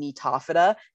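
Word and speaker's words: Gnetophyta: And then there's these really weird guys, and this is phylum Nitophyta. The G is silent.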